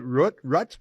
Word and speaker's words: Rutte: Rutte? How do you pronounce the name of the leader of the Netherlands? He's a serious member of the World Economic Forum, too. What's his name? Mark Rutte. Yes, Rutte.